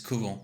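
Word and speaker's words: couvent: the convent Convent Kent in French there's no n it's kuo and I actually know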